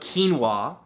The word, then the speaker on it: quinoa: beautiful thing number two quinoa spelled ke en wuah no that's not how it's spelt at all but it should right come on English now the great thing about quinoa and soy is it's